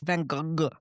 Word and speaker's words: Van Gogh: Van Go is the Dutch way and the French Vanog. Van Go. Yeah. And when I said that to my husband, he went, "It's Van Go."